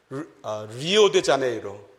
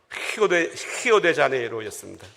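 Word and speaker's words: Rio de Janeiro: 그 상파울로에 있는 여행 공항에 딱 가가지고 비행기 표를 사시면서 리오데자네이로 그런 식으로 읽었는데 나중에 이곳에서 불어를 배우며 발음을 봤더니 히오데자네이로였습니다.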